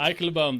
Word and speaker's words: Eikelenboom: Eikelenboom, is that how you pronounce it? Eikelenboom, that's about right.